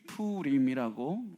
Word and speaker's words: 푸림: 많은 분이 부림절이다 그래서 부림이라는 말을 그 한자라고 생각하시는 분들이 있는데 이게 히브리 말입니다. 히브리어를 읽으면 푸림이라고 읽을 수가 있고 제가 이 날을 정하게 된 때가 하만이 제비를 뽑았기 때문이라고 말씀드리지 않았습니까?